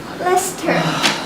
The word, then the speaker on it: Leicester: Meanwhile, in Leicester Square, Leicester. The middle syllable is omitted.